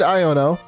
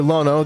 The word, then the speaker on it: Iono: defeated the final gym we defeated aiono uh I know last episode I pronounced her Lono the entire time I do apologize